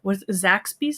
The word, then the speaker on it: Zaxby's: Well, when I go visit Anthony and possibly Scott someday, we'll all go to Zaxby's. Is that how you say it?